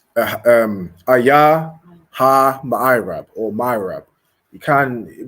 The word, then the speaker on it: ma'irab: Okay, it's ma'irab. Okay, ma'irab. So you're gonna spell that M-A, so ma, then I, just the letter I, then rab, R-A-B, ma'irab.